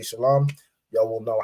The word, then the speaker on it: Shalom: word shalawam or this it would really be pronounced Shalom right because this W isn't it's not a consonant it's an added vowel so even in this it wouldn't be shalawam it would be pronounced